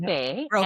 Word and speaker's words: Roque: So it's Roque, Roque, and it's I'm sorry.